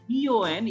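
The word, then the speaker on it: bon: in case of B-O-N, it is bo. A nasal sound is coming.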